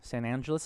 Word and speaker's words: San Angeles: San Angeles is how they say it.